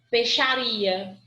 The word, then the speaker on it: peixaria: Em palavras como dinheiro, galinheiro, porque eu não falo peixaria, porque eu não falo I, ó, peixaria. Nesse PEI, o I quase não aparece, aparece o PE. Eu falo peixaria. Eu esqueço de pronunciar o I.